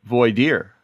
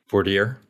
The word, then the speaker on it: voir dire: Voir dire. Voir dire. Yeah. Well, I mean, Texas is voir dire, but I think I say voir dire.